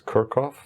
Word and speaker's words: Kirchhoff: it kirchhoff's law um i have trouble pronouncing the german name in in english so i think it's kirkoff in in english so um um